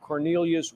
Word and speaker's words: Quornelius: The attack suspect now identified as Second Brigade Sergeant Cornelius Radford, his first name spelled with the letter Q.